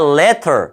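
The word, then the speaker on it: latter: later가 아니라 letter.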